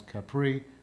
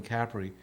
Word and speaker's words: Capri: the island of cpri which most people pronounce Capri but it's really Capri and this this was